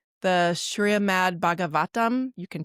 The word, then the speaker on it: Srimad Bhagavatam: Srimad Bhagavatam is the name of the other book, which is many volumes.